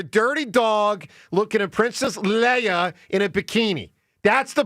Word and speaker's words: Leia: Yeah, her name's not Leah, but what is it? Leah. Leia.